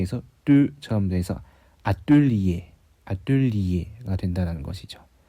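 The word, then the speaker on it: atelier: 그리고 이거 우리가 흔히 뭐 아뜰리에라고 하는 그 작업실, 그거는 여기 리에 할 때 이 부분이 글라이드이기 때문에 아떨리에 할 때 떠 부분이 실제로는 이렇게 입술을 동글게 해서 뚜처럼 돼서 아뜰리에가 된다는 것이죠.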